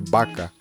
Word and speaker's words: vaca: Se fosse falar a palavra vaca, por exemplo, seria baca. Vitória, vitória.